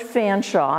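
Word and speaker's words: Featherstonhaugh: I brought with me his name is George Fanshawe and it's spelled Featherstone Hall he was an English geologist and he came through Rutherford County in 1837.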